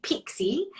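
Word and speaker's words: PICSI: Yeah, Pixie.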